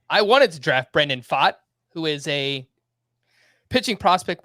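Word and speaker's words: Pfaadt: annoying pick because I wanted to draft Brendan fought who is a pitching Prospect with the Diamondbacks that name is spelled p f a a d t if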